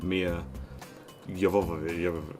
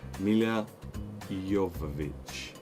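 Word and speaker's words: Milla Jovovich: I wanted to watch The Fifth Element, because that would link from Mia Jovovich. Oh, I can never pronounce her name correctly. Mila Jovovich. There we go, I got it in the end.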